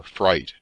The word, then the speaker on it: Frith: a great portion of the frith or fright as the name was then and is still pronounced had formerly been a